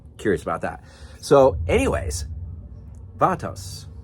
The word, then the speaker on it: Vatos: wondering about or curious about that so anyways Vos Vos that's how you say Vos um dude I love this freaking episode man